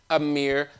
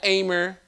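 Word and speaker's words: Amiri: It is pronounced Amir 7, not Amer.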